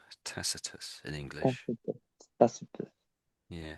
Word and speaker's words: Tacitus: So this we say this as Tacitus. Tacitus in English.